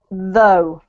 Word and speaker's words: though: this one yes okay let me pronounce them both for you so that you get the clearer picture this one here is pronounced oops this one here is pronounced though this one here is pronounced thought all yeah y'all so this is thought with a like here and this one is though with a look like here so we have to go up to thought okay mmm okay can